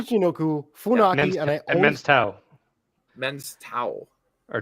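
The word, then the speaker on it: Men's Teioh: faki and I and men's towel. Men's towel or tail. Tail. Yeah. Yeah. Men's tail. Americans would say tail, but I think the the actual pronunciation is towel.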